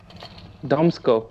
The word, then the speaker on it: Damsko: So how you pronounce it? This. Damsko.